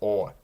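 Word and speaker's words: О: And then we get to O. Now, it looks like an O, and it pretty much is. However, it only has the sound of O when it's in a stressed syllable, which it's usually not.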